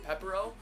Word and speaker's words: Pepero: And although I may pronounce this in Korean, in English it's pronounced Pepero.